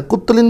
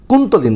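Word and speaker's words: কুন্তলীন: কেশোলিনও বিক্রি হয় মানে কুত্তলিন বিক্রি হচ্ছে মানে কি কুন্তলিন সরি উচ্চারণটা কুত্তলিন না দুঃখিত কুন্তলিন কুন্তলিন কুন্তলিনের সঙ্গে কেশুলিনও বিক্রি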